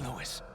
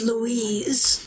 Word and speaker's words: Luis: Stay with me, Louis. I am a researcher. It's pronounced Louise by Saddler.